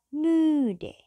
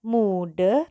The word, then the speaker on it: müde: Yang terakhir ada müde. Bukan mude tapi müde. Sambil monyong.